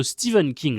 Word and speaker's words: Stephen King: Donc la grenadière et le message Salem de Stephen King, de Stephen King, je sais qu'il faut le prononcer comme ça.